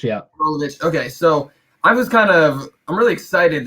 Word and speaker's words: Rolovich: I think is it Rolovich? I don't want to say it wrong, but Rolovich. Yeah. Rolovich.